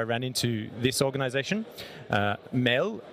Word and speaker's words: MAD: into this organization uh Mel as it's pronounced in Danish means food but also in English